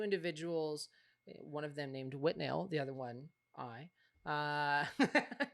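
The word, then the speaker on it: Withnail: her favorite movies was whitnail and I spelled like with nail and I uh and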